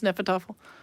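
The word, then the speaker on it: Hnefatafl: How do you pronounce Nefertafel? You pronounce it Nefertafel. It starts with an H, but it's apparently silent.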